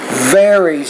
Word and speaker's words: varies: The V varies. You need to pronounce that V with more vibration.